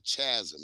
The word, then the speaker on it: chasm: It's chasm, It's not a chasm. It's a chasm. What the hell is Just because it got a H in there, The H is is silent.